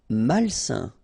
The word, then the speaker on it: malsain: Malsain. A-I-N together, it's a nasal and it's un. Malsain.